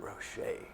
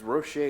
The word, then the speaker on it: Rowshay: Because Rowshay is spelled like, it's French.